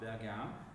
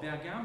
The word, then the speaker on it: Bergame: to B to E, which has the disadvantage of accentuating the first syllable of ber, the bergam, rather than the second, le ga, the bergam.